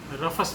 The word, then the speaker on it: Rufus: उसे रफस बोलते हैं, कुछ रूफस भी बोलते हैं। कुल मिला के स्पेलिंग है RUFUS।